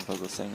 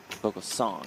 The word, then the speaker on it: Vogelsang: Tom Vogelsang in the small blind. Vogelsong, I should say, as he announced his name for us late yesterday.